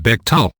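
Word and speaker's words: Bechtel: Becttel, pronounced Becttel, a San Francisco based organization.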